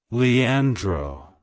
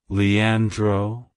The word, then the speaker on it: Leandro: Greek it's pronounced as Leandro Leandro Leandro to pronounce it correctly emphasize the on sound in the middle and roll the r at the end like hello Leandro goodbye